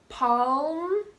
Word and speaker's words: palm: of my mouth calm calm calm okay calm palm the palm of your hand and almond like